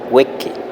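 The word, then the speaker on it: wiqi: Y en segundo punto tenemos que wiki se pronuncia hueque. Lágrima. Aquí la i se convierte en e incluso en una variante aún más abierta de e y eso muy interesante.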